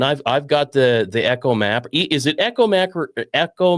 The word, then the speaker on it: ECHOMAP: I've I've got the the Echo Map. Is it Echo Mac? Echo Map or Ecom Map. We always say Echo Map. It's Echo Map.